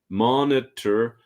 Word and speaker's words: monitor: we have mon it so you've got three syllables Mon it's not monor like in other languages but monor monitor progress so remember mon